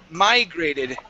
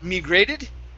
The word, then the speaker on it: migrated: good job uh next here is migrated instead of migrated it's my migrated migrated okay stress at the beginning migrated migrated okay very